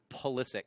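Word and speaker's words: Pulisic: go ahead and say his name I Christian poic yeah I have trouble saying his last name but you say it like that that's how that's how he prefers ptic Christian polistic the young American sent the cross a cross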